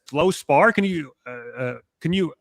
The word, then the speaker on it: fluorspar: Literally I I mean it was actually when you brought it up to me I was like how do you even pronounce that? It's Flow Spar.